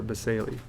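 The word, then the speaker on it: basale: This was pronounced basal. I think some refer to as basal, but basali is how you pronounce that.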